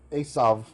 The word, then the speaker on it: Esau: Maybe I'll just pronounce it like modern Hebrew. Esav. Just say the V.